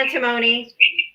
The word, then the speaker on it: antimony: I'm not exactly sure how to pronounce this name again. Antimony.